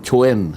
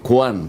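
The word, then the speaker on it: Quan: a Q u a n ano pero hindi kuhan ang pronunciation gan oo ang pronunciation Chwen Chwen ah Jing Chen Chen Jing Chen Chen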